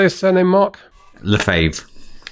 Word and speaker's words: Lefebvre: Lefebvre. Lefebvre. Yes, Mark Lefebvre. It does have a B in there, but it's a silent B. It's a silent B. So Mark Lefebvre.